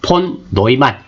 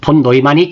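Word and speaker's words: von Neumann: 폰 노이만, 폰 유만이라고도 합니다. 외국 사람이다 보니까 발음에 따라서 차이가 나는데요.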